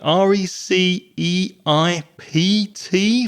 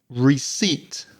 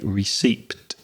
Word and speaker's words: receipt: R E C E I P T. First of all, we've got that silent P in there. And then we've got that strange EI sound, which is E. Receipt, and the second syllable is stressed.